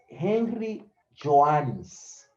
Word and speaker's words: Henry Joannis: Otro autor que hay que tomarlo en cuenta y hablar de él es Henry Joannis. Se escribe así, Henry normal y Joannis. Joannis. Joannis. Henry Joannis.